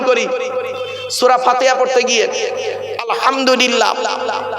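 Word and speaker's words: الحمد لله: আমরা আরেকটা ভুল করি সূরা ফাতিহা পড়তে গিয়ে আলহামদুলিল্লাহ আলহামদুলিল্লাহ এই গলার ভেতর থেকে হেটা উচ্চারণ করবেন হায় হুটি হায় হাবজ নয় আলহামদুলিল্লাহ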